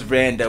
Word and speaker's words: Vannda: Queen B say, no, it was Vanda with the D. You were saying it right. Pause. But I was right with the D. The D is not silent. It's actually there.